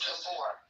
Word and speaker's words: Gabor: Is it Gabor? Is that how you pronounce it? Tell me the truth. It's Gabor. Gabor? Okay. Gabor. Is it? It's Hungarian.